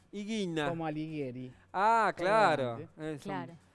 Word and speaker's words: Ighina: ¿Y cómo se pronuncia? Higuina. Higuina.